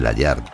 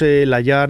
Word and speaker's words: Layard: de Arnold brackman bueno decimos layard decimos layard porque en realidad el origen de la familia era Era francés y a veces la pronunciación cambia un poco no Aunque él siempre se